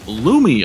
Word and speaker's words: Lumi: a fantastic catch from Lumi apparently is how you say his name again a little bit of help from the chat here uh appreciate that